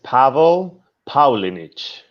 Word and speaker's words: Pavel Paulinich: So my name is Pavel Paulinich. It's like Paul Paulinich.